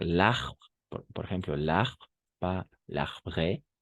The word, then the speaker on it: arbre: Al plural, algunas incluso en singular, no se van a pronunciar l'arbre, por ejemplo, l'arbre, pas l'arbre, no va.